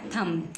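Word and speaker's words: thumb: क्या बन गया थम टी एच यू एम बी तो बी साइलेंट है छुपी हुई है क्या बोला हमने थम टी एच के लिए थ और एम थम क्या बन गया थम ऐसे ही बी क्या है साइलेंट छुपी हुई इसीलिए हम बी को नहीं बोलते हैं लिखने में दिखाते हैं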